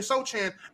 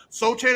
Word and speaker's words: Sochan: yeah, this is the Sochan at point guard, and I know the C is silent, I don't care.